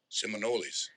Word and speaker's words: Seminoles: Seminoles.